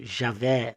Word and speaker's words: Javé: espírito do Yudi rivavier do nosso Javé ou Jeová dependendo da pronúncia do país que você mora aqui na América do